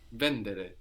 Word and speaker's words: vendere: but not here so some Italian verbs have the accent third from the end vendere but only a few